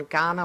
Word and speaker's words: Kaurna: that we're standing on Kaurna land. The Kaurna people are the traditional people of Adelaide. If you're not from these parts, it's spelt with a K, not a G.